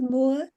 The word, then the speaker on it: Mower: Is it Moore? How do you pronounce? Professor Yousef also. Yeah, yes. 2 seconds, I'm just going to get Mower to. Yeah, mower like a lawnmower.